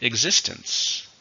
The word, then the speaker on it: existence: families we're looking at existence same meaning but this is a noun how many syllables existence exists since three stresses on the second many people question the